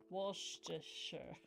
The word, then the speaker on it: Worcestershire: No, you have to say sh instead of st. Worcestershire.